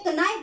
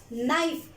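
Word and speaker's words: knife: तो पहले कनाइफ बोलते थे, नॉलेज बोलते थे, बट नाउ वी से नॉलेज, नाइफ, के क्या हो गया, साइलेंट हो गया, ठीक है।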